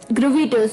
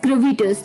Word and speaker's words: gravitas: तो this brings us टू अवर 11th word, जो कि है, ये थोड़ा सा अटपटा वर्ड आपको लग सकता है प्रोनाउंसिएशन वाइज, ग्रेविटस. ग्रेविटस, GRAVITAS, ग्रेविटस.